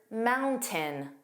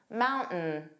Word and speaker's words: mountain: Now let's review the word mountain, or how an American would commonly say it, mountain. Did you hear that? This is called a glottal stop, which is a brief pause in your vocal cords.